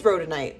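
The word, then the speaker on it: rhodonite: Oh, it is rodenite. That's how you pronounce it.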